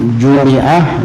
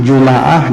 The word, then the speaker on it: جمعة: Boleh disukunkan bunyinya Jum'ah, boleh difathahkan bunyinya Juma'ah, boleh dikasrahkan bunyinya Jumi'ah, dan boleh didammahkan bunyinya Jumu'ah, dan itu yang paling afsah atau fasih.